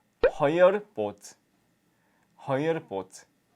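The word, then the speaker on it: хоёр: 넥, 허열, 고롭, 두룹, 타옵. 네, 1부터 5까지 발음을 닉, 허열, 고롭, 두룹, 타옵 이렇게 얘기를 합니다.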